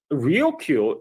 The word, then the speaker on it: Ryukyu: Now, Okinawa itself, the Ryukyu island chain itself, also is actually tied to this dispute, because so Ryukyu is the Japanese pronunciation of Luchu, which is what the island called themselves.